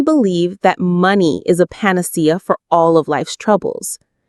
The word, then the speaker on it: panacea: Panacea. The stress falls on that C syllable.